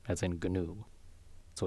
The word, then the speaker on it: GNU: That's new as in the wildebeest, not the free software thing, which has a hard G, as in GNU.